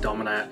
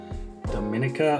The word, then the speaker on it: Domina: I think I was pronouncing it Dominica, and there's no K in that. So Domina is how I saw it pronounced in another video. So we're just gonna stick with that.